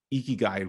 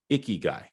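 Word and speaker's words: 生きがい: it, by the way, how you pronounce it is Ikigai, not Ikigai. If I was in a lime Borat bikini right now, that would be an Ikigai. No, we're talking about Ikigai. Iki, so just smile and make your cheeks all flush, and that's how you say it.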